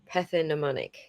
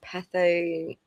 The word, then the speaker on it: pathognomonic: I think it's a silent G like gnome. Yeah. Thank you, Batty. Pathognomonic.